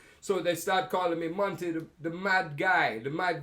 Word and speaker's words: Monty: The T in Monty is like the T in water. Americans don't say water. The British people say water. I'll have a glass of water. Water. Jamaicans say water. Water. Americans say, some of them, water. It's not a T, it's a D. Water. Okay, so Monty. You left out the T.